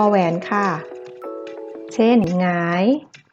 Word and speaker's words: หงาย: หงาย หงอย เหงา เงา นัก เรียน จะ สังเกต ว่า เวลา แกะ ออก เสียง นะ คะ มัน จะ ออก เสียง เป็น ตัว งู นะ คะ ออก เสียง เป็น พยัญชนะ ตัว ที่ 2 ค่ะ ไม่ ออก เสียง ตัว หน้า นะ คะ ต่อ มา นะ